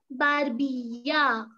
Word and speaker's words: barbilla: La barbilla. So the double L in Spanish is pronounced as Y.